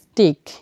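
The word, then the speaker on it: stick: আমি এখানে নিয়মটি লিখেছি এস এর পর পি টি সি কে কিউ থাকলে উচ্চারণের কোন পরিবর্তন হবে না স্বাভাবিকভাবে পচ ক এর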